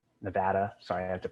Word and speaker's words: Nevada: it's taking in water from i believe uh nevada nevada sorry i have to pronounce that correctly for my nevada friends or